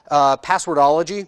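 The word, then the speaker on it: Pwdlogy: tool out on github called password ology it's spelled PWD ello Gy it actually takes information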